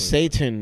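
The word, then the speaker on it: seitan: It's something called Satan, and it's like...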